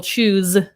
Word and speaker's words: choose: So again, another S-E example, choose, these, cheese, right?